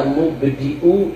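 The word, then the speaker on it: مُبْدِئُ: Baca ya mubdi'u ya khaliq. Ya mubdi'u ya khaliq, pakai hamzah. Mubdi bukan pakai ain, pakai hamzah.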